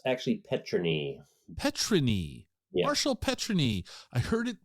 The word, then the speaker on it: Petryni: say it right the first time is it petrini it's actually petrin petrin Marshall petrin I heard it pronounced a couple of different ways yeah what